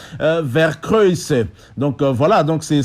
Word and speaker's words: Vercruysse: mais elle est vraie la vraie prononciation au belge et hollandaise c'est vers kruis est donc voilà donc